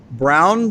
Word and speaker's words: Braun: Michelle it's pronounced brown but it's phonetically broad dr.